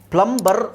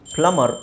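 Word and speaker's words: plumber: ಇದರಲ್ಲಿ ನೋಡಿ ಇಲ್ಲಿ ಪ್ಲಂಬ್ ಪ್ಲಂಬರ್ ಅಂತ ಹೇಳುವುದರ ಬದಲು ಪ್ಲಮರ್ ಅಂತ ಹೇಳಿದ್ರು ಸಾಕು ಪ್ಲಂಬರ್ ಅಂತ ಹೇಳುವ ಅವಶ್ಯಕತೆ ಇಲ್ಲ ಜಸ್ಟ್ ಪ್ಲಮರ್ ಅಂತ ಹೇಳಿದ್ರೆ ಸಾಕು ಪ್ಲಮರ್ ಪ್ಲಮರ್ ಹಾಗೆ ಇದು ಸಬ್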